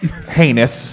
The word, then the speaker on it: Heinous: I will say that uh Dr. Heinus uh has deathly pale skin. What? Heinous. Okay, good. With an H. The H is silent.